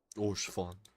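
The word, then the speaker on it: Haurchefant: Orshfon. That's how you pronounce it, Orshfon.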